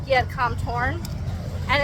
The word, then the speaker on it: Torn: Thailand instead of Thailand, anytime you see a TH, only say it as a T in Thai. They'll put TH in a lot of stuff. So like, there's a gym called Giat Kam Torn, and it's spelled with tons of H's.